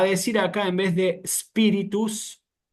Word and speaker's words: spiritus: como se están especializando, si a alguno se le escapa decir espíritus o espíritu, no hay que decirlo más así, ¿eh? Hay que empezar propiamente con la letra S, como hacen los italianos, ¿sí?